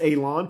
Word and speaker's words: Alon: My name is Alon, pronounced like you're going to cut grass, like you're going to cut a lawn. It's not spelt that way, but it is pronounced that way.